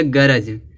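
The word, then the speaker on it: grudge: इसी तरह से यहाँ दिया गरज। गरज में देखो जी है और जी से पहले क्या आया, डी आया है तो यह डी क्या होगा, साइलेंट होगा। इसको पढ़ेंगे गरज, गरज यानी ईर्ष्या होता है।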